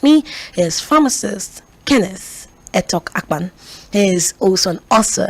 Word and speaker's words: Etokakpan: I have a pharmacist and an author, Kenneth ETOKAKPAN. Hello. Did I get that pronunciation well?